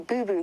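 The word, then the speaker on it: boubou: see them and yes I'm saying boo boo almost like a boo boo like you've heard yourself but it is spelled Bou rather than b o o Boo Boo come on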